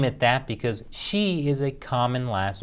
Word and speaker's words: Xi: who said they didn't name it that because she is a common last name except it isn't